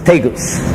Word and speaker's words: Tegus: Yeah, most people refer to it as Tegus, with the accent on the first T.